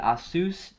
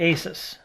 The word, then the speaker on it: ASUS: today we have the asus triple e pc right and some people say asus but we say asus because that's how they say it but nobody knows that